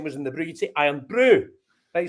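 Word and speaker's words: Irn-Bru: said right so right this is pronounced i am brew right not iron brew because any english people i speak to are like are you drinking some iron brew no it's no iron brew it's i am no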